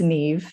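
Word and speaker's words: Niamh: yeah my name is Neve like Jen said not um spelled quite differently so you can see it's it's pronounced Neve but spelled n-i-a-mh as Irish like to to complicate things um and I am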